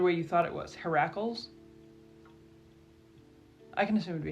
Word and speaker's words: Heracles: Heracles?